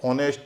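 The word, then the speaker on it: honest: जैसे ऑनेस्ट, आवर, इसमें क्या है कि शुरू में एच है और साइलेंट है।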